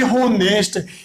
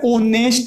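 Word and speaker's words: honest: देखो बोलते टाइम पे अपन ऐसे नहीं बोलेंगे होनेस्ट, कभी भी होनेस्ट नहीं होता है, ठीक है, ओनेस्ट ही होता है। अपन बोलेंगे तो क्या निकलेगा, मीन्स ओनेस्ट निकलेगा, ना कि होनेस्ट। होनेस्ट नहीं होता है, ओनेस्ट होता है।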